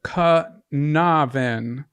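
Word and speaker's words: Caernarfon: juice C okay so this is what I wrote down how it's supposed to be said Kavin well don't read the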